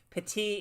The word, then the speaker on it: Petit: the impulse because again, Petit is like the correct French pronunciation, but it has been Americanized, so it's Pettit, but yeah, I don't object to a more Frenchified.